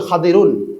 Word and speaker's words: খাদির: তো খাদির আলাইহিস সালাম আরবি শব্দ হলো খাদিরুন আমরা তো খিজির বলি বাংলায় আরবির সঠিক উচ্চারণ হলো খাদির তো খাদির আলাইহিস সালাম